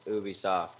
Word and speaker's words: Ubisoft: he said you Vsauce it's Ubisoft it they say it like five different ways